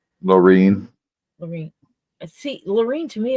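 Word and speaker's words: Lorne: PR goes through there Lauren Myers but the thing is La how do you say your name is it Lauren or Loren Loren Lauren l o r n e Loren Loren see Loren to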